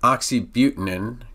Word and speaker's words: oxybutynin: Ditropan or Oxytrol and oxybutynin kind of rhymes with keeping here and in tolteridine is